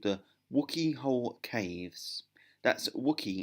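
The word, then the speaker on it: Wookey: a place called the wookie hole caves that's Wicky it's built wo o ke y but it's pronounced wookie like Chewbacca the wookie I know wookie whole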